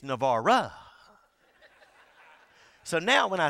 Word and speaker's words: Navarre: we're going to navara my daughter gets on to me every time i say navarro because he said dad you say it wrong you're supposed to be navarre i said it's not navarre anybody can say navarre it's navarro so now when i